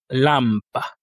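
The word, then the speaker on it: лампа: Ensuite, on a le L comme dans le mot lampa. Lampa lampa qui signifie une lampe. Ici également pas de difficulté. L'assantonique se situe sur le A, le premier A, deux voyelles donc deux syllabes lâ pas.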